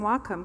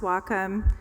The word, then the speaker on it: Wacom: Thank you for pronouncing Wacom correctly. Fun trivia fact, it's pronounced Wacom.